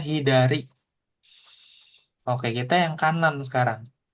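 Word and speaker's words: 左: kiri artinya e bacanya hiidari.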